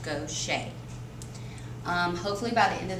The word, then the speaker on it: Gaucher: today about gaucher's disease it looks like gosher but it is pronounced go shade hopefully by the end